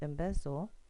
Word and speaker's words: embezzle: So counting back 1, 2, 3, you're going to split the syllable between the two Z's, and then you hear a schwa sound.